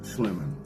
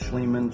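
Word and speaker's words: Schliemann: Heinrich Schlimman, right? Or pronounced Schlleman, Schlleman, whatever the case might be.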